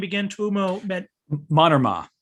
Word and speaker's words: Mannermaa: I so enjoyed this book is, and you pronounced his name to say this Finnish person's name again. Tuomo meant Mannermaa. Mannermaa.